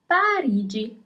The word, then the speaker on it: Parigi: Paris, as I'm living in Paris now, is Parigi. So here you have GI in English at the end of the word, Parigi.